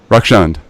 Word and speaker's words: Rakshand: bad is it wreck is it wrecks and wrecks and how do you pronounce it rocks and rocks in okay great man